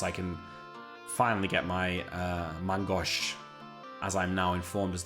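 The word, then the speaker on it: main-gauche: Once I can finally get my Mangosh, as I'm now informed is the correct way to pronounce it.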